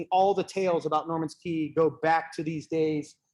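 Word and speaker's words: Norman's Cay: little red dot is Norman's Key. It's spelled C-A-Y, which has always confused me, but that's Norman's Key.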